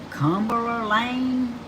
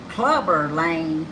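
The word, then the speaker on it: Clubber Lang: pity the fool," after landing the role of Cumberland Lane in Rocky III? In 1982, who made famous the line, huh? How you say it? Clover Lane. Okay. Clubber Lane in Rocky III, who said, "I pity the fool."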